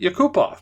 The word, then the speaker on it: Yakupov: figure it out please that's just like Yakupov and your coop off just apparently you're supposed to pronounce it you coop off but people say yeah